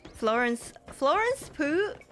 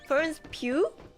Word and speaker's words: Florence Pugh: Florence Pooh? Wait, how do you say her name? Not Pooh. I'm guessing it's not Florence Pooh. Florence Pugh? Is that how you say it?